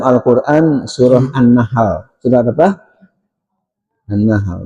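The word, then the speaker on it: النحل: An-Nahl. Bukan Annamal ya. Kalau namal semut ini An-Nahl lebah ya.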